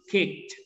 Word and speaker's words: kicked: Tapi seperti walked, kicked, ini dibacanya te. Jadi kicked.